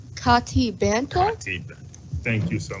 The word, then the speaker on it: Katie Benton: Kati Banto?